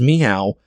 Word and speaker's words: Miao: And I looked up multiple resources on how to pronounce that, and it is Miao.